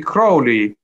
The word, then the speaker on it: Crowley: In fact, it should be Crowley, because there is a poem by Crowley where the rhyme is with the word holy, predictably perhaps, knowing Crowley's own psychology.